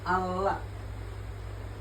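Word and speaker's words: الله: Contoh kayak ini nih, dibacanya Allah. Nah, Allah ini nih, tasdid ini nih. Jadi tadi dibacanya double.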